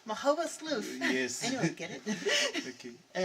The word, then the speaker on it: Magoebaskloof: Magoebaskloof. Magoebaskloof.